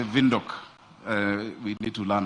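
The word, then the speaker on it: Windhoek: good friend Queen the mayor of Wok Namibia they say they say vok uh we need to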